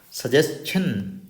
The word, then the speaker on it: suggestion: Suggestion.